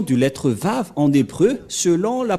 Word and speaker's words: Vav: C'est-à-dire que c'est V la bonne prononciation.